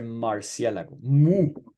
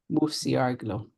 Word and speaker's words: murciélago: So see what's happening, that you're using the U like in the English way. So Marciélago. Right. Murciélago.